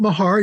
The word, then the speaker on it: Mahar: foreign ER I pronounce it Mahar you can call me anything you want I'm